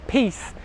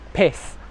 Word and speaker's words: piece: So when you say 'I want a piece' you have to have to have to make sure that you're saying 'piece' /i:/, and not 'piss' /ɪ/.